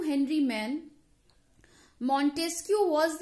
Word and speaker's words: Maine: तो मैन ने कहा, हेनरी मैन, बेसिकली इसकी जो स्पेलिंग है दैट इज MAINE, बट इसे प्रोनाउंस करते हैं मेन.